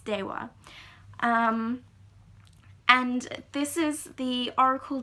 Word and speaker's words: Deva: So it's spelled Deva. You can pronounce it Deva, but the proper pronunciation is Dewa.